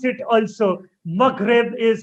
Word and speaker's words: Maghreb: So the term used is Maghreb. Maghreb. I like the way you pronounce it also. Maghreb is how it should be pronounced.